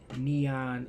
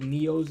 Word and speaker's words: Nyos: Video, the Lake Neon incident. I think Lake Nyos incident, not Neon. I think that's how you say it, Neo, like the singer.